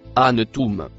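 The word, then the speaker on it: أأنتم: Le premier mot en rouge se prononce anum.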